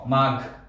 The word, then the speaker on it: মাঘ: অনেকে আমরা মাঘ বলি, মাঘ, গ এর উচ্চারণ করি, কারণ গ এবং ঘ এই দুইটি উচ্চারণ আমরা প্রায়শই শব্দের মধ্যে ভুল করে থাকি, গ বলে ফেলি। গ হলো অল্প প্রাণ, আর গ এর সাথে যদি হ ধাক্কা দেয় তাহলে ঘ বের হবে, ঘ, মাঘ।